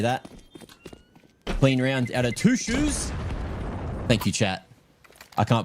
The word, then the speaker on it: Toutschuss: It's two shoes. Okay, I got pronunciation tips. Two shoes. Two. Okay.